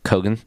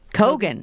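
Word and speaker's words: Keoghan: know how to say his last name but kogan kogan oh okay um filled out by what seriously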